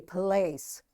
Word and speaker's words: place: This E is silent and this A is giving its long sound A, place.